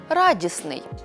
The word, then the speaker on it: радісний: від слова радість виходить радісний важко вимовити розташовані підряд три приголосні звуки тому в цьому слові відбудеться спрощення і середній звук випаде ми скажемо радісний найчастіше спрощення відбувається у